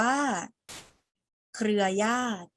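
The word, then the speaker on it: เครือญาติ: ใช่ ไหม คะ อ่า คำ แรก อ่าน ว่า เครือ ญาติ เครือ ญาติ เครือ ญาติ นี้ เป็น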